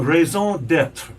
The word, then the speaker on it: raison d'être: A raison d'être.